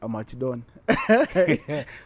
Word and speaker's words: Amac Don: The streets have it that is Amac Don.